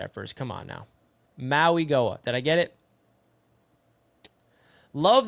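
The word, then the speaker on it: Mauigoa: Richie, he's simo and it's pronounced moiga. Moi moiga. All right. Moi Goa.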